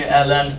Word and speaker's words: ln: three letters we call it Ln and we pronounce it really Ln Ln of X some people call it the Long